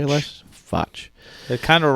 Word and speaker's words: Fotsch: Foch. It kind of rhymes with.